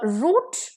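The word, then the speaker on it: route: feet तो next is अ रूट versus राउट okay a आरओ यू टी ई रूट जिसमें ई है इसका मतलब है कोर्स पाथ रास्ता by which रूट you came here कौन से रास्ते से आप यहां आए हो आर ओ यू टी राउट का मतलब है फ्लाइट भागना जैसे द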